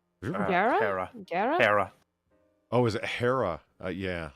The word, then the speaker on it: Hera: Gira? Gara? Hera.